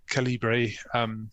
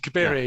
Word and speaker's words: Cabiria: had been adapted, and Calibri. I always get the pronunciation of that one wrong because I Cabiria. Yes, sorry.